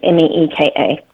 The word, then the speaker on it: Mika: We spell it Mika, but it's pronounced Meeka.